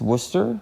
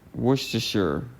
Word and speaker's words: Worcester: do it for me pronounce it werer wer it's just Worcester or wor to wor to Sure W to Sure W sure W sure okay okay now that we